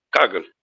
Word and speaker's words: Kaggle: Si sabemos que tenemos el RapidMiner, tenemos el Kaggle, ¿es que se pronuncia? Kaggle.